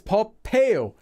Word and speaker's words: 법해요: Notice also it's 법해요, because the pronunciation of 법 ends with this letter, and anytime you have this letter after it or before it, it's actually just extra air.